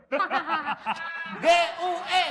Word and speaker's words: gue: Saya akan G U e bacanya gue.